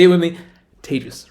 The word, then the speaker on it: Tejas: Hi, my name is Tejas. That's pronounced like contagious, or maybe in pandemic times, advantageous is probably better. Either way, Tejas. Say it with me. Tejas, right?